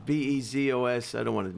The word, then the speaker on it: Bezos: Benzo? How do you say his name? Amazon CEO. Bezos. Bezos. I don't want to mispronounce it.